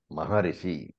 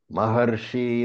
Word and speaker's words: Maharshi: So, remember that normally Maharishi, it is pronunciation, Maharishi, right? But here, the ra is short, so Marshinam. Maharshi naam bhrigraham.